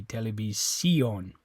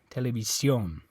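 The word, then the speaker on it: televisión: pronounce that would be television okay um anyway so they don't want you to pronounce it like that they want the o to be stressed television televis television okay all right um let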